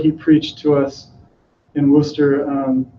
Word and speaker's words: Worcester: preached to us in Worcester, I said it right, not Worcester, Worcester.